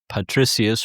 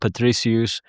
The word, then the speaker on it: Patricius: But my main book is called Patricius or Patricius depending on how how you've learned to pronounce Latin.